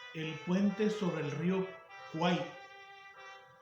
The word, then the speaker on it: Kwai: Y en la película se llama El puente sobre el río Kwai, Kwai. Algunos lo pronuncian Kuwait o Kawai.